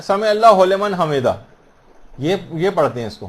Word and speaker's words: سمع اللہ لمن حمدہ: عام طور پر لوگوں کو دیکھا گیا سمع اللہ لمن حمدہ یہ پڑھتے ہیں، اس کو ہو لمن نہیں ہے، سمع اللہ لمن حمدہ.